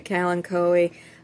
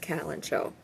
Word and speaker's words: kalanchoe: had researched, depending on, it's like the word kalanchoe. It's a plant, okay? If you're in the U.S., you say kalanchoe. Otherwise, if you're in Britain, it's typically pronounced calancho, whatever.